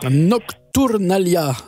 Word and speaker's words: Nocturnàlia: Gabriel bonjour et bonjour Nocturnalia c'est comme ça qu'il faut dire le titre de l'album Nocturnalia Nalia il y a un accent tonique qui est sur l'avant-dernière syllab c'est c'est voilà c'est du catalan c'est la nocturnale si